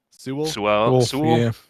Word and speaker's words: Sewell: Sewell.